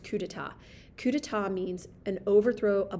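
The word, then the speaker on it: coup d'état: coup deat but it's a French word it's pronounced cudata cudata means an overthrow a bloodless overthrow of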